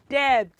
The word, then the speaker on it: debt: this mistake of saying debt. Debt. So, which letter is silent? Is it D, the first D? Is it E? Is it the second B or T? Which one? It is B.